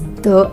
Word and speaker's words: the: आपसे पूछा था कि THE जो वर्ड है इसकी प्रोनाउंसिएशन द होती है या फिर दी होती है. दोनों ही होते हैं, लेकिन दोनों का यूजेज जो है बहुत ही केयरफुली आपको करना है. द भी सही है, दी भी सही है.